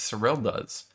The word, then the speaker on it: Serylda: is israelia's surreal diaz no there's no y there so it's sorel does so real does so